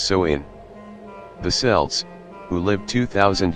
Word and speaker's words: Samhain: back to the ancient celtic festival of Samhain pronounced so in the cells who lived 2,000 years ago in